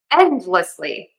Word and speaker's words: endlessly: Endlessly. Endlessly. So, I say end and then I have a slight D. It's unreleased.